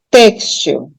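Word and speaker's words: têxtil: silaba tônica dela tá textil novamente uma paroxítona terminada em L então eu assento eu acentuo a penúltima sílaba porque ela é tônica textil e como o som é fechado eu coloco o chapeuzinho que que é o acento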